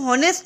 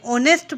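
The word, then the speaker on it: honest: हॉनेस्ट को हम हॉनेस्ट नहीं पढ़ते, ऑनेस्ट पढ़ते हैं, इसलिए ओ, यहाँ पर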